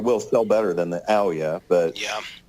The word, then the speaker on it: Ouya: It really reminds me of the Ouya, and I've managed to find an Ouya, or Ouya, I think is how you pronounce it, at a thrift